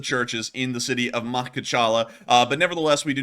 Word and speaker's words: Makhachkala: Sorry, everyone, that name is really hard for me to pronounce. It is actually Makhachkala, an incredibly difficult name to pronounce.